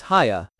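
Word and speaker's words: Haigha: His name is Haya. Ho-ching, texture R. Ho-ching, he pronounced it so as to rhyme with mayor and fashion.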